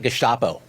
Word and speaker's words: Gestapo: law enforcement names like Gestapo. By the way, very Germanically pronounced.